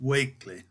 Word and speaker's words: Wakley: his biographer charles brooke many years ago sought out a living relative and ascertained that the name should be pronounced weightly footnote 2.